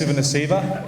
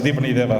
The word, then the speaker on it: Divani Deva: For Fiji's sake, we'll pronounce it properly, but it's pronounced Sivanasiva in Australia, but we're in friendly territory here, so it's Divani Deva, so I'll just get that right.